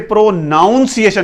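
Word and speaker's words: pronunciation: लेकिन ये जो मेरा वर्ड है पहला प्रोनाउंसिएशन, इसे प्रोनाउंसिएशन ही पढ़ना। वो जो वर्ड था जो मैंने पहले जो पढ़ा वो प्रोनाउंस था, प्रोनाउंस्ड और प्रोनाउंसिंग, but this word is प्रोनाउंसिएशन।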